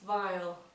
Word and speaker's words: viol: So this is called a bass viol. So like a violin but without the last syllable.